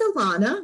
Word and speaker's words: Alana: Well, my name is Alana, which rhymes with Nirvana, and I'm a recovered people pleaser, having poor boundaries, overgiving, overextending myself.